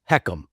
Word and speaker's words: HECM: It's called the home equity conversion mortgage, pronounced heckum by those who work with it every day.